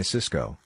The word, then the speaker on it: Cisco: told him to buy cisco the high-tech company and tony bought cisco the food distribution company both stocks are pronounced exactly the same while cisco crashed cisco